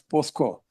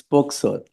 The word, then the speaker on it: POCSO: Quite often your lordship would say, listen until you say POCSO, not as POSCO.